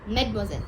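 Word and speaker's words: mademoiselle: Medosel addressed for the French unmarried woman. Okay. Like in English we say miss, right? Like that in French it's known as Medmoiselle.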